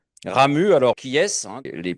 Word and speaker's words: Ramuz: Et on ne prononce pas le Z final, hein, puisque curieusement, ici, on a tendance à dire Ramuse.